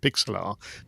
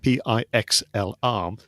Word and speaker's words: Pixlr: I think that's how you pronounce it, Pixlr, Pixlr.